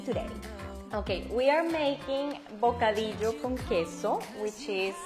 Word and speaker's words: bocadillo con queso: Okay, we are making bocadillo con queso, which is like caramel guava With cheese.